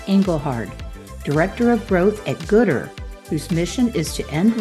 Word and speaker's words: Goodr: engelhardt who is the director of growth at gooder that's spelled g-o-o-d-r and this is a program in